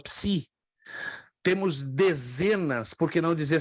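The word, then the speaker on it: ψ: no formato minúsculo e não existe equivalente na língua portuguesa porque uma combinação de duas vogais então Psi Psi Tá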